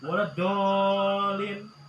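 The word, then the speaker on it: ولا الضالين: Waladolin ya, waladolin. Nah ini juga 6 harakat bacanya. Mad apa? Lazim musaqal kalimi waladolin gitu ya. Ada sidahnya juga. Jangan nggak pakai sidah lagi nih.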